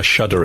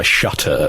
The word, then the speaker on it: shudder: can do it foot I knew an American girl and she she wouldn't say I shudder at the thought she would say I shutter at the thought really